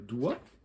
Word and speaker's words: doigt: Même chose avec le doigt, DOI, on pourrait l'écrire comme ça, tu vois, ça marcherait, mais on ajoute un G et un T pour rappeler le latin digitus.